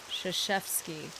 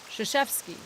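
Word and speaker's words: Krzyzewski: Mike uh Zooski, whose name is pronounced Shashevski. Shashevski.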